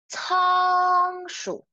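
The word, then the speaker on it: 仓鼠: There is a G, okay? G. So remember, open your mouth as wide as you could. 仓鼠，仓鼠。It's hamster, hamster.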